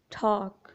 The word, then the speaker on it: talk: अगर किसी वर्ड में एम, एफ, के, डी से पहले एल आता है तो एल हमेशा साइलेंट होगा। For example song, half, टॉक, खुड। किसी वर्ड में एन से